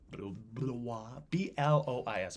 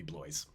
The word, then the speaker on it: Blois: And the former ruling house of Brittany, the House of Blois, B-L-O-I-S, Blois. If it was Wisconsin, it would be Blois. Like Du Bois, Blois.